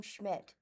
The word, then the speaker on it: Schmidt: Heat returning soon, and this is by Tom Schmidt.